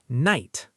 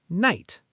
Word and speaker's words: night: Night. Say it. Night. The GH is silent.